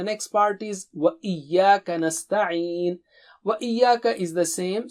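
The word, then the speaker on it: نستعين: This is another opportunity for practicing the sound of ayn. Okay, repeat 3 times. Nasta'een. Nasta'een. Nasta'een. Nasta'een. Wa Iyyaka nasta'een.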